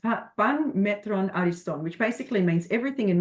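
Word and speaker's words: Πᾶν μέτρον ἄριστον: It's it is pronounced pan metron ariston, which basically means everything in moderation, and ensure we're avoiding the extremes.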